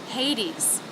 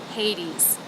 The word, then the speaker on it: Hades: to the schah hotus Hades begins with the H consonant has the a as in say d thong hey hey then the D consonant e vowel z sound Hades Hades stress on the first syllable so that should have more shape whereas these D D should be flatter and lower in Pitch hot as Hades or